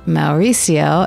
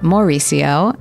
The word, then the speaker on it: Mauricio: Mauricio, which is pronounced Mauricio, not Mauricio, as I found out during this talk, and